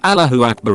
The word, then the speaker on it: Allahu Akbar: It's not pronounced like all, but closer to al.